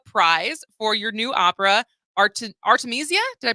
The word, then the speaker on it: Artemisia: Charles Ives Opera prize for your new Opera Artemisia did I pronounce that correctly that's that's absolutely right hey